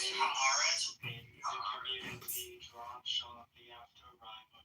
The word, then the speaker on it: Haaretz: It's pronounced Haaretz, by the way. It's two separate. Haaretz.